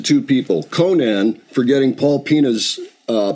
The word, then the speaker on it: Pena: people Conan forgetting Paul pina's uh pronunciation correct we've been able to verify this I know a lot of people look at it and say Pena and it's no it's it's actually pronounced Pina now he's Cape Verdean